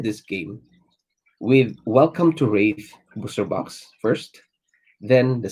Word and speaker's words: Rathe: Okay, there is I pronounce it as Wraith because people pronounce it as Wrath, Rathe, Wrath. It's But when I watched the interview of James White, he uh pronounces the Wraith at Wraith.